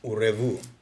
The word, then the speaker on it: Urevu: the greatest artist, Urevu. Revu. Yes. Pronounce that one more time for him. Urevu. Revu. Yes. Like parlez-vous français. Yes.